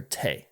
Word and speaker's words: te': The meaning of the band's name has never been explained, but the word T, or Tay, means tea in several Romance languages, and the Japanese word T means hand. Or Tay, excuse me.